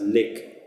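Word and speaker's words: lyk: The word L-Y-K, like, has to be pronounced lick.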